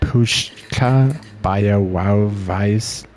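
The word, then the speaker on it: Puszcza Białowieska: Puzza Bialauesca. Oh, well, okay. That's embarrassing. Wow. I was pronouncing it very wrong. Apparently, here it says it's pronounced Pushka Białowieska.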